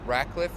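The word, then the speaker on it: Ratcliffe: a r r t last name rackliffe like rackliff flowers r a t c l i ffe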